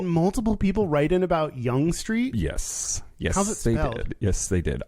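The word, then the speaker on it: Yonge Street: it um the other thing is apparently it's pronounced young street i don't care spell your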